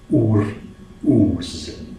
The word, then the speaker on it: Uruz: Now, Uruz is the second rune in the first 8, and its pronunciation could be described as Uruz. So you basically take the two O's that you have in the word booze, like as in alcoholic